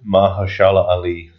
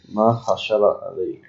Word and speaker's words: Mahershala Ali: Mahershala Ali. Mahershala Ali.